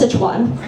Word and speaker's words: Sichuan: going to get Sichuan food I'm like it's pronounced Sichuan oh the Japanese use the Japanese use y